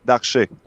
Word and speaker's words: Darche: Am I pronouncing his name right? Do you know, or are you Yep. familiar? Darche? Yeah, actually, you're doing right. Darche.